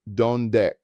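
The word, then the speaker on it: dónde: Pronounced donde. The accent mark tells us to stress the first syllable.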